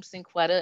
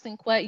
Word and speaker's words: Sinquetta: It looks like Sinquette, you know, every first day of school. I already know they're going to mess up my name, but yes. So it's Sinquetta.